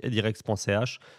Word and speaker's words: Edirex: Donc, pour la partie particulier, donc c'est la personne qui veut déposer une demande un appel d'offres, donc edirex.ch, Edirex, comme ça se prononce, comme ça se dit, d'où le travail sur le logo.